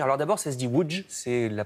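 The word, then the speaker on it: Łódź: pologne à découvrir alors d'abord c'est se dire ou djce et la prononciation polonaise en dire à l'autre c'est à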